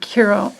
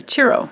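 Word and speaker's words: Ciro: and i'm using the marchetti tarot on my carol i'm sorry chiro cheryl marchetti i always pronounce mispronounce his first name okay and so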